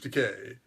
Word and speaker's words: Takei: for you yes hi I'm George Takei it's kind of ironic that rhymes with the gay I remind you to